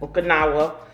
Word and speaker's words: Okinawa: It's distilled in Okinawa. Did I pronounce that? Yep. Okinawa.